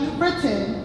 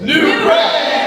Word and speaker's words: New Britain: It is not New Britain, it is New Britain!